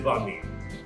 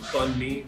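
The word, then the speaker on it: bánh mì: So what is banh mi? So banh mi, or bun mi, sometimes pronounced that way, is like a Vietnamese French hybrid dish.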